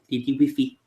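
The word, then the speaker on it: Lady Wifi: That was the Lady Wi-Fi episode. Lady Wiffy. Lady Wi-Fi? Yeah, I love how they say it in French. Lady Wiffy.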